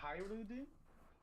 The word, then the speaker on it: Hajrudin: Is Hajrudin. it a Hajru Hajrudin. or Hyrudin? That's Hajrudin. how they announce it in the anime.